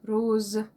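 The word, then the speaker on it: rose: روز ار او روز ز هنا حرف الاس مش الزد رو ار او ار او ز قلنا هنا الاس بتنطق ز روز ندخل في اللون اللي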